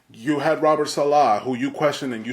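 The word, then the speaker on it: Saleh: When we first started the Ozone, internally, I would laugh how you pronounce his name. It's Robert Salah. Salah. So Mr. Salah.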